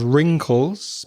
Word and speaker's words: wrinkles: If you're getting old like I am, you start to have wrinkles. Be careful of the pronunciation. There's a W at the beginning there.